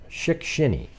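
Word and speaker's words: Shickshinny: farm pond in the I think it's like Schickini or Schick-Skinny, or I don't know how to pronounce that. S-C-S-H-I-C-K-S-H-I-N-N-Y. Let's see. Schick-Shinny. There you go.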